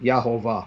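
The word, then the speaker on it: יהוה: He says that the medieval manuscripts written by rabbis actually show they pronounced it Yahovah, where we get Jehovah.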